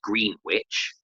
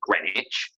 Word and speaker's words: Greenwich: So it would be in a similar way to how you don't say Greenwich for the place in Oh, London. You say Greenwich. The W is silent.